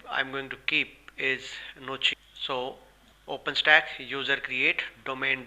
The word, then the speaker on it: gnocchi: Its spelling is Gnocchi. So first we need to create user and service. For that user, I'll be calling it as Gnocchi, keeping G as silent.